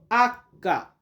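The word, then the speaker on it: acca: এরপর আমরা শিখবো আক্কা।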